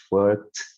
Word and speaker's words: worked: Otros verbos como work, es como una T, worked, worked.